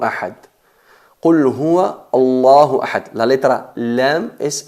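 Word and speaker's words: الله: La letra lam es enfatizada, es atenuada, pero aquí la letra lam de la palabra Allah en concreto se pronuncia enfatizada en función de la letra que lleva antes.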